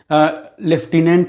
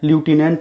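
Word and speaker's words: lieutenant: लेफ्टिनेंट है, ल्यूटिनेंट उसको बोलते हैं, और उसमें स्पेलिंग जो होता है उसका प्रत्येक जो अक्षर है उच्चारित नहीं होता है।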